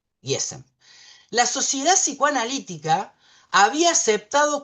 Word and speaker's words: Gießen: Supongamos que se pronuncia así, se escribe Giesen. Gießen.